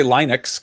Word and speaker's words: Linux: I mean, you're supposed to say Linux because it was a dude named Linus, but like I don't even know how you're supposed to say Asus, like what?